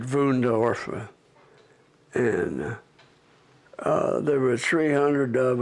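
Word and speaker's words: Wünsdorf: And then they shipped a dozen of us out to a work camp at Wunsdorf, WUEND, at ORF, but they pronounced it Wundorf.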